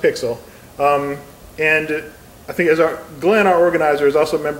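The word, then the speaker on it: PyXLL: It's P-Y-X-L-L, it's pronounced Pixel.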